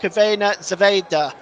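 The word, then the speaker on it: Crvena Zvezda: sorry Red Star Belgrade one Benfica 2 that's pronounced cavena Zeda by the way in case you're seeing that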